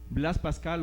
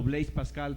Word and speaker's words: Blaise Pascal: Blaise Pascal o Blaise Pascal, para los que lo quieran pronunciar en francés, físico, matemático y filósofo, precursor